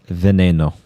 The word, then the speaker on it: Veneno: veneno in the collection did you say venino or veneno it's veneno how do you say